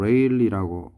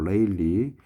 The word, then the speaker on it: Rayleigh: 저장조로 빠져나간다 아래와 같이 이거는 발음을 레일라 발음하면 됩니다 레일라가 아니고 레일리 레일리 넘버 즉 레일리 수와 수평